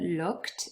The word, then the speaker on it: looked: we've got the word looked in the past tense and the e d is usually pronounced as a t looked and then we've